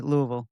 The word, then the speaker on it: Louisville: She said it wrong again, by the way. Louisville.